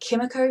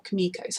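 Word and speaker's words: Kimiko: frenchie um i think i've been saying it chemical because like when i read the name um that's how i would read it but i feel like they pronounce it more kamikos i'm sorry about that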